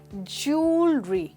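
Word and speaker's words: jewellery: हम इसको कहेंगे ज्वेलरी। जी हाँ दोस्तों, इसमें एक्चुअली डब्ल्यू की साउंड आती ही नहीं है। आप ज्वेल नहीं, आप जूल कहेंगे।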